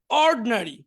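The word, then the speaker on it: ordinary: Intelligent বুদ্ধিমান, intelligent বুদ্ধিমান, অর্ডিনারি, অর্ডিনারি সাধারণ। আবার দেখি, অ্যাটেন্টিভ মনোযোগী, ইনঅ্যাটেন্টিভ অমনোযোগী, ইন্ডাস্ট্রিয়াস পরিশ্রমী, আইডল অলস, এডুকেটেড শিক্ষিত, ইগনোরেন্ট অশিক্ষিত, ইন্টেলিজেন্ট বুদ্ধিমান, অর্ড এখানে আইটা উচ্চারণ হবে না, অর্ডিনারি সাধারণ।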